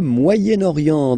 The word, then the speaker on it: Moyen-Orient: So it's interesting here because normally if you would have only this word here, you would pronounce it moyen, moyen, okay? But then as you've got this vowel after, okay, you've got to make the liaison between the two.